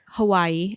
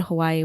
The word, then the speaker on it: Hawaiʻi: to be called and in my real life I say Hawaii but I also say Hawaii sometimes and so I I realized oh man I've been kind of saying it wrong this whole time so